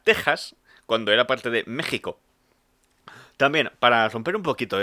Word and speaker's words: México: Curiosidad lingüística, Texas y México siempre se han pronunciado con J, pero se escriben con X porque antiguamente la X se leía como J porque venía de la letra griega J, que es la X.